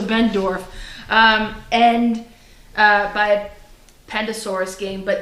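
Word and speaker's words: Benndorf: I think I said Ben Ford last time, so Bendorf.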